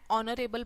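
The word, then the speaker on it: honorable: एन is used before the word beginning with silent H एज़ an hour N ऑनरेबल person.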